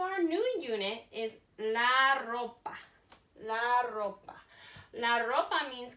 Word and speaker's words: ropa: Ropa. Notice I roll my R's. In Spanish, when you have an R at the beginning of a word, or when there's 2 R's together, you roll your R.